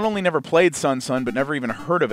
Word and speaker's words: SonSon: so we are taking a look at sunson or could be sonson I call it sunson cuz you know that's how it's spelled right so this is